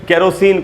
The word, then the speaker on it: kerosene: इसकी स्पेलिंग है KEROSENE और इसका प्रोनाउंसिएशन होगा, ये देखिए दोस्तों, कैरोसिन। ख में जो ए है वहीं पर स्ट्रेस है, उसी को अंडरलाइन किया हमने। र के बाद आप देख रहे हैं आधा अ है, यानी र पर थोड़ा